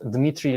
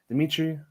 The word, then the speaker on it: Dimitri: it's like like in in english pronunciation would say okay dmitry and that's not too bad right yeah yeah that's not not too bad but still not uh not russian way i said the english